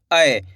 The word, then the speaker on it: ऐ: इसका उच्चारण कैसे करते हैं? आय। कैसे करते हैं? आय।